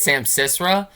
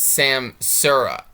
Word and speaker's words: Samsara: So I was calling it Sam Sisra. I was adding too many S's. It's Sam Sura, which is Samsara.